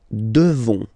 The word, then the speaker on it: devons: Nous devons. Okay? Classic ending O-N-S for nous. Okay? You just pronounce this on, O-N, this nasal. Okay? And then the S, final S, is not pronounced.